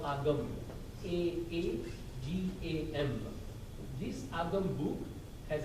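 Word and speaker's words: Aagam: In Jainism, we have a book called Agam, A-A-G-A-M.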